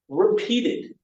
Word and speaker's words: repeated: pronounce the verbs, but you're only going to use this id sound if the verb ends in a T or a D.